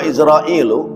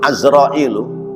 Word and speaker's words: Azrail: menjadi humu ya quluhu izrailu atau azrailu ya ucapannya azrail bifathil ain kama qoahu bidzalika sikhuna ahmad addimyati ya ada yang membacanya itu azrail bukan izrail ya nah itu ee diucapkan oleh Imam Ahmad Dimyati.